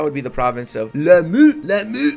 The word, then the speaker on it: Lamu: That would be the province of Lamu. That's exactly how you pronounce it, in case you're wondering.